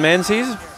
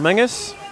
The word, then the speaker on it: Menzies: So Duncan Menzies, or Mingus, we had a discussion about the pronouncing of this name, and apparently you can choose.